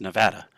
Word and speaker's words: Nevada: according to basically everybody in the state it's pronounced Nevada I know how to pronounce it just like